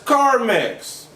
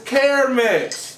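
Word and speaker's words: Carmex: nobody seems to know there's no such thing as car mix what you're putting on your lips is care mix okay i ain't know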